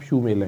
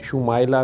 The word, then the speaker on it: शुमाइला: आप शू मेला है। अच्छा, शुमाइला नाम है, लेकिन आपने उसे शुमेला करके लिखा हुआ है।